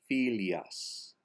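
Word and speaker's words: filles: Filias. The accent on fi, so the E is an A.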